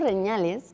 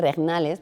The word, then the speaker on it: regnales: Los números reñales, que pueden ser regnales, porque se escribe con GN, no con ñ, curiosamente, que no es